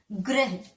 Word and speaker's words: ग्रह: पदेन में आधे अक्षर के बाद पूरा र का उच्चारण होता है। ठीक है, ग्रह, ग फिर रो फिर ह, ग्रह, तो हम उसके साथ ही बोल रहे हैं।